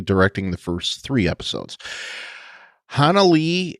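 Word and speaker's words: Hanelle: different podcasts and and interviews where it's specifically pronounced Hana Li so that's what it is and another thing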